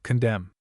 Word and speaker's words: condemn: Though Wednesday we have a number of words ending in mn in which the n is silent. Note the spelling of the following words. Autumn solemn column kil him condemn.